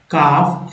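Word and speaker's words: calf: इससे बहुत मिल है एफ के पहले एल है तो साइलेंट एल हो गया हाफ काफ एल साइलेंट य भी है ब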